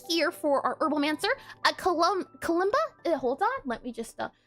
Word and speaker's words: kalimba: And then here for our Herbalmancer, a Kalimba.